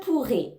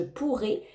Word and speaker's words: pourrais: j'avais plus de temps ici c'est la même prononciation qu'au futur je pourrais mais attention on n'oublie pas d'ajouter le S hein le S on ne le prononce pas mais attention il faut l'écrire parce qu'ici c'est le